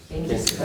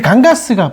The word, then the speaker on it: 강가: 겐지스 강의라고 하면 안 돼요. 이제 그건 영어 발음. 예. 이게 이게 이제 리버스가 된 거예요. 예. 강가 리버스가 되잖아. 리버스 할 때이 s가 붙어요. 그래 강가스가 붙은 거예요. 그럼 읽으면 갱지스가 된 거죠. 이해되셨나요? 그 영어 발음입니다. 근데 원래는 강가예요. 강가.